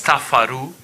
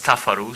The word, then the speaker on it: Tafaru: It's Tafaru. It reads Tafaru, so from now on, I'm going to pronounce her name correctly.